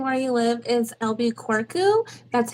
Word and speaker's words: Albuquerque: I don't know the exact way to pronounce it as far as the spelling, but mhm. everybody calls it Albuquerque.